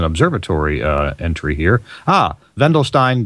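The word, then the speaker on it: Wendelstein: it's uh starts with a w they they pronounce it vendelin but uh w n d L Stein do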